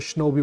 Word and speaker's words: Shinobi: In fact, if I do the SuperStation One live stream, during that live stream, I might just go for a Shinobi one. Shinobi rhymes with Obi-Wan.